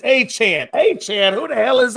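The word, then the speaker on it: Achane: Ashane? No, it's Achan.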